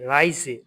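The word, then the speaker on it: Reise: এই যে রাই, এর এ আই রাই, এস এ যে রাইজে, রাইজে মানে হচ্ছে ভ্রমণ। এর এ আই রাই, এস এ যে রাইজে ভ্রমণ। এই যে এস এর উচ্চারণটা কি হবে সবসময়?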